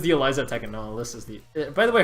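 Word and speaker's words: Alisa: No, Alyssa's the... by the way, her name's actually Alyssa, not Eliza. It's just Alyssa but spelled wrong.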